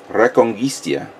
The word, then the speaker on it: Reconquista: By the way, it's pronounced, and since I'm Spanish, it's pronounced Reconquista in G, which is the new Tomino series.